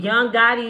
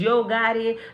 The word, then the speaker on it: Yo Gotti: I said Young Gotti is Yo Gotti.